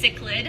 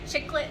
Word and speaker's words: cichlid: So that word is pronounced cichlid. Cichlid, but you hear it pronounced all kinds of ways, don't you? I get lots of interesting people trying to come up with their own pronunciation for it. So I hear chiclet a lot. I also hear chi-child, but the proper pronunciation for that is cichlid.